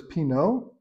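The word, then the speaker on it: Pinot: the first word is Pino so you don't pronounce the t p i n o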